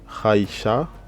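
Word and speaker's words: האשה: Haïcha, Haïcha, Aïcha. Donc ici c'est l'article pour dire la femme, ok.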